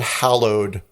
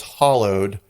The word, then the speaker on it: hallowed: was welsh but she didn't pronounce the word hallowed correctly pronounce it as hollowed and they were like